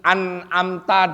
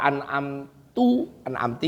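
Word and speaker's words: أنعمت: Tidak boleh ngerubah arti an'amta dibaca an'amti nggak boleh.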